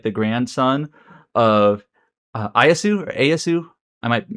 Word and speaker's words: Ieyasu: character Tokusawa Takachiyo is like the grandson of Ayasu or Ayasu. I might be mispronouncing it. Ieyasu.